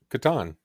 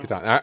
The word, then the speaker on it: Catan: the last major question is, how do you pronounce Klaus Teuber's game, The Settlers of? Catan. It has Yep. to be Oh, Catan.